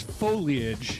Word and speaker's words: foliage: Is it foliage or foliage? It's foliage. Foliage. It's 3 syllables.